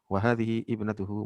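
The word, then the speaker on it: وهذه ابنته: Kemudian ketika apa yang dimaksud cara baca nih, misalkan kita bisa membaca dengan wahadhihi ibnatuhu, boleh juga wahadhihi ibnatuhu. Jadi alifnya tidak dibaca, jadi langsung dari wahadhi hib gitu. Alifnya itu diabaikan.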